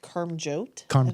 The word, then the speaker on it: Karmjot: you pronounce your name my first name is pronounced Karm jote the last name is